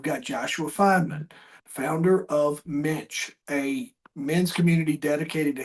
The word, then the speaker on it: Mensch: Leave the C out, and then that's how you say it. Mensch.